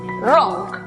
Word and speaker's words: wrong: La pronunciación para la palabra equivocado entonces es wrong.